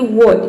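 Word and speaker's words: what: जैसे की यहां पे देखिए व्हाट इसको प्रोनाउंस करते हैं वह साइलेंट है क्योंकि डब्लू के बाद हा आया है इसमें रोल के अनुसार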